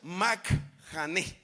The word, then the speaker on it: Mahanaim: El concepto literal de la palabra Majanaim, según la fuente del Antiguo Testamento, se pronuncia Majaneim y quiere decir campamento de tropas.